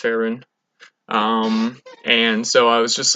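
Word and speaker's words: Faerûn: Coast or bow a fair run fit Ferran Ferran Ferran thanks pronounced Ferran and so I was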